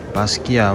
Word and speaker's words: Basquiat: of ice 1984 the te is silent so Basia wrote 47 up here